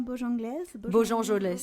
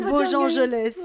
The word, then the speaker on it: Bojangles: Voilà, mais c'est En attendant Bojangles. Bojangelès. Merci, Soukaina. Je dis Bojangles, mais... c'est Bojangelès.